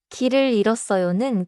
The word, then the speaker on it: 길을 잃었어요: 길을 잃었어요는 글자 그대로 읽지 않아요. 일의 히웃은 소리가 안 나요. Oh, so I should drop the final H sound and say 길을 잃었어요.